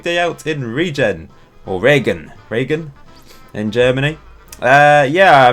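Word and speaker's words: Regen: I put a stream it's pronounced Regan break that's rain isn't it in German so I mean they've even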